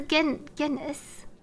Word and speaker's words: Guinness: Hard G is a G sound. Soft G is like the J. G. And that's why it's Guinness.